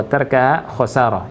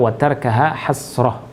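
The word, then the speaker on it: وتركها حسرة: Kemarin saya bacanya watarkuha atau watarkaha khosarah, itu nggak pas dan itu salah. Jadi yang benar watarkaha hasrah, ya, dan meninggalkannya itu adalah merupakan penyesalan.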